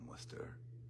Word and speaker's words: Worcester: Um uh but if you're from the Boston area, you know, uh it's Worcester and uh and if you're really from Boston, it's Worester Worester Worcester.